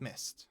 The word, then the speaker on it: missed: The same thing with missed. Missed is also pronounced with a t at the end.